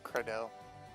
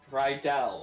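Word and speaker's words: Krydle: It's Crydell. Crydell? Is that how it's pronounced? Crydell. Crydell of Baldur's Gate. Okay. Thank you, because I've been pronouncing that wrong this whole fucking time.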